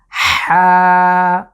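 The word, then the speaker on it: حاء: যদি এই লেটারটাকে আমরা শুধু বাংলার হার মতো উচ্চারণ করি, এই কণ্ঠের ব্যবহার ছাড়া, তাহলে সেটা অশুদ্ধ বলে গণ্য হবে। আমরা যদি বলি হা, তাহলে কিন্তু সেটা সঠিক উচ্চারণ হলো না। তাহলে আমাদেরকে যেটা করতে হবে, কণ্ঠের মাঝখান থেকে চাপ দিয়ে আমরা উচ্চারণ করব হা, হা।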